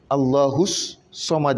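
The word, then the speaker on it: الصمد: Donc, comment est-ce qu'on se retrouve avec deux sorts? Allahus Samad. Il y a deux sorts. Qu'est-ce qui explique cela? On dit, ici, c'était écrit d'une autre manière. On a écrit un seul sort, mais on a écrit le deuxième sort avec ce signe. Dans le Coran, en arabe, de façon générale, lorsque tu vois ce signe sur une lettre, ça veut dire que la lettre est deux.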